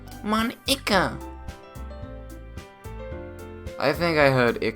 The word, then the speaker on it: Monika: something like it's not that's not how you say my name at all it's Nico it's Monica also that joke makes